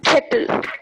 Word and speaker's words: kettle: This time, I want you to notice Kettle. this one Kettle. as, yeah, pronunciation is right, kettle. And this is the Kettle. sound called A, Kettle. as in egg.